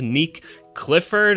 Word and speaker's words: Nique Clifford: It is pronounced Nick Clifford and that's what we're going to be breaking down today.